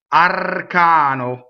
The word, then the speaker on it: arcano: Next, arcano. One N, the R rolls, touches a consonant.